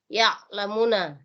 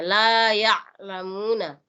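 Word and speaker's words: لَا يَعْلَمُونَ: Nah, ini ain tetap harus jelas perbedaannya antara alif. Jadi berbeda kalau alif sukun dengan ain sukun. La ya. Jadi tetap ada bunyi-bunyi sedikit situ. Ya lamuna. Jadi kalau alif di situ ya lamuna. Tapi kalau ain di situ itu lebih ditekan sedikit penyebutannya. La ya lamuna.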